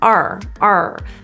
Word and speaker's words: our: your lips rounding how how our is typically pronounced as r r it's our place work the issue in this